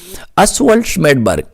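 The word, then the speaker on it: Oswald Schmiedeberg: आप लोग इसकी प्रोनाउंसिएशन याद रखें। शडबर्ग अस्व्ट स्मेडबर्ग।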